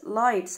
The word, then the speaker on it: lights: اضواء lights lights. عندي الجي اتش سايلنت lights.